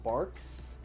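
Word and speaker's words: Barq's: And then we have um it's called Barks, which is I think it's B A or something. It has a Q in it somewhere, but it's pronounced barks or mug root beer.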